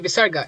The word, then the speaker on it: Visarga: This is the Visarga. It's pronounced as aha. No, I'm just kidding. It's quite literally a breath of air.